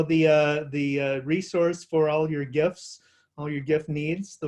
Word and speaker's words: GIF: One label reads GIF, G-I-F, and animated looping images, hard G pronunciation, and then a hashtag GIF versus GIF.